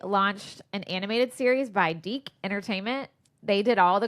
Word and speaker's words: DIC: The Deke logo came on at the end of the cartoons, and it was this little kid voice going, Deke. Anyway, maybe it was just so we didn't pronounce it Dick.